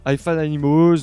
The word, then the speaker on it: Hi-Fi Animals: assez puissant du groupe Hi-Fi Animals. Donc je le prononce en anglais, je trouve ça plus cool. Hi-Fi Animals, donc groupe que j'ai découvert à la fois sur Hoover et également sur les réseaux.